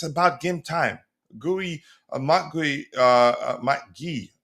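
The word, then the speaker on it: Marc Guiu: GUI, Mark GUI, Mark Guy, I think he says his name is pronounced Mark Guy.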